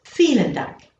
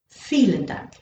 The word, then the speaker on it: Vielen Dank: You're noticing again that vielen sounds as if it's starting with the letter F, but it's not. It's starting with the letter V. Because if you remember from a previous lesson, I said that all these are pronounced like Fs.